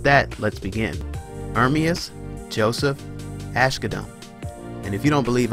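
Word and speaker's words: Asghedom: independence so with that let's begin fermius Joseph Ashe Kadam and if you don't believe I pronounced it correctly go ask his mama err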